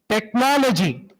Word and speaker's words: technology: sound unit okay so wherever you have a word like technology the stress the word stress falls on the anti-penultimate syllable ultimate syllable is the last